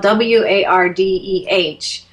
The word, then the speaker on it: Wardeh: And so, if you want to remember this, if you're a visual, need to see letters kind of person, just remember it as W-A-R-D-E-E.